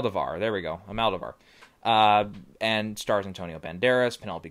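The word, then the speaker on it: Almodóvar: I tried to pronounce it last time. I struggled with it. Almodovar, there we go, Almodovar, and stars Antonio Banderas, Penelope Cruz, a few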